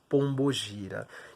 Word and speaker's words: Pombo Gira: magia um gira mas a pronúncia correta nosso meio aportuguesado né que o candomblé ele é brasileiro bato na tecla isso sempre vai ser pombo gira quem é bom fugir